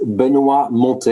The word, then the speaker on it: Benoit Montet: uh having you today my name is benua monte it's an impossible name to pronounce if you are not french so you can call